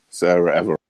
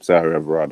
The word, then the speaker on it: Sarah Everard: Killed with yeah, Sarah Everard. That's her name. Sarah Everard. That's how you say it.